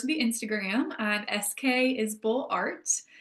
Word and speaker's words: Isbell: I'm SK is Bull Art. My last name is not spelled the way it's pronounced. It's I SB L.